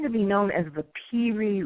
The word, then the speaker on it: Piri: And this has come to be known as the Piri Reis map.